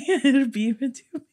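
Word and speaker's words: Beabadoobee: Look, that's literally Biba Doobie. The fact that it's spelled phonetically how it sounds is crazy.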